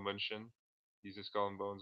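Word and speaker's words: Mnuchin: I used to pronounce it Munchkin. Paul Munchen.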